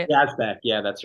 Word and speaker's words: Yazbek: Yazbek.